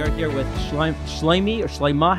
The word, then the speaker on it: Shloime: We are here with Shloime or Shloima. How do you say your name? Shloime.